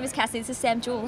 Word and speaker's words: Sam Joole: in Bondi my name is Cassie this is Sam juel how are you did I pronounce that correctly yeah j o o l